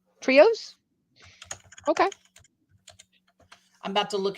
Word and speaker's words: Trejo: Did enjoy Danny Trejo's. Trejo? Trios?